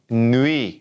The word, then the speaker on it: nuit: our in Bund bonne nuit remember that UI together sounds like movie and that T at the end we don't pronounce it alright so we've started